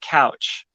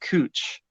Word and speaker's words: Couch: you look at it it looks like couch but you're actually supposed to name it or pronounce it cooch street i can see